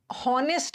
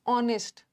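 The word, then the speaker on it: honest: हॉनेस्ट नहीं होता। ऑनेस्ट यहां भी एच साइलेंट है। ओ से शुरू हो रहा है।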